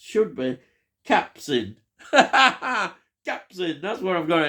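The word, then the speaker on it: Capucine: she pops up, is Cadurine, or as it's pronounced, should be, Capsin. Capsin, that's what I've got here, Capsin.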